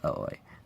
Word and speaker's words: Aoi: I used to think it was Aoi, like most people think, but actually some of my friends who speak Japanese told me that her name is pronounced Aoi.